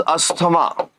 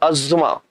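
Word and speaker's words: asthma: which is named as asema and in more proper way it is pronounced as Asma or Asma got it so ASA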